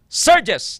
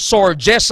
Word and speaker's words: surges: Grabe ng pagbaha dangerous storm surges kag out surges no s u r g e s surges na siya mag-pronounce ha hindi nga storm sorges ha kigan gikamos ang